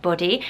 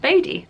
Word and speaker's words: Bodhi: it's really interesting so it could also be pronounced body and a few people on forums are saying